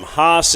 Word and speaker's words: Haas: the hos Moto Museum hos is spelled h a a s that's weird a legendary racing two